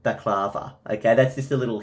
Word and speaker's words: baklava: Dinah usually calls it balaclava. I believe you pronounce it baklava.